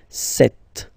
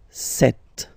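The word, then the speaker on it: sept: Then here, remember, P is not pronounced, okay? It doesn't exist, so you get this set sound, set, set.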